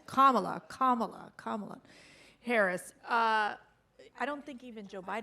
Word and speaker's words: Kamala: have to practice it like 10 times it's kamala kamala kamala harris uh i don't think even